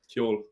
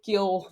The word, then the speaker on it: Ceol: the crack and the, how do you say, Ceol, the music? Kyol. Kyol, the crack and the Ceol, then and do a bit of fishing.